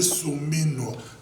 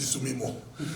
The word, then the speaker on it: Suminwa: Moi, j'aimerais bien les gens, des traiteurs, les gens qui attaquent Judith Soumino. Maintenant, je prononce bien. Avant, je dis Soumino.